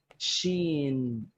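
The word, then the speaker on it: ش: okay okay the fourth which is quite similar sheen sheen sheen sheen like that yeah i like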